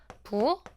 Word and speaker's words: 부엌: 우리 부어크라고 하지 않죠? 부억 기억으로 통일해서 바꿔서 얘기할 겁니다.